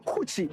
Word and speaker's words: Kuchi: But one of the coolest things that I personally love about this city is the Kuchi. That's how they call it locally.